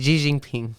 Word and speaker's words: Xi Jinping: Okay, so it looks like was it Xi Jinping? I don't know how to say his name. Xi Jinping. Xi Jinping. How? Xi Jinping. Xi Jinping.